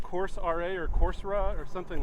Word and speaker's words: Coursera: which we are uh there's a it's called course ra or coursera or something like that right uh-huh it's a website coursera that's how they pronounce it coursera it's a website that gives